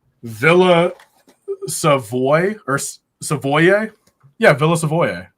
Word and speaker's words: Villa Savoye: Pronounce the name of the set, Tyler. Villa Savoy or Savoye? Yeah, Villa Savoye, right?